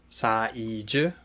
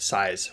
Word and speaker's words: 사이즈: So you should really try and say 사이즈. 사이즈 with 3 syllables, not size with 1 syllable.